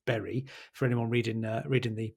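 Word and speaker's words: Bury: by in Whitefield Berry is not pronounced buy it's Berry for anyone reading reading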